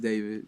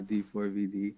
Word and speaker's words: D4vd: Um pronounced David, not D4 VD.